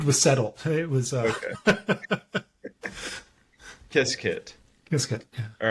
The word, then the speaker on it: Qiskit: Um, so yeah, you mentioned is it Qiskit or Quiskit? How do you say that? It's Qiskit, I think, is the official pronunciation.